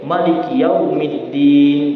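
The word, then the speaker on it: مالك يوم الدين: Bedanya di mana? Mimnya mereka pendek. Maliki Yaumiddin. Kalau kita Maliki Yaumiddin. Mereka menggunakan bacaan cara baca Warsh.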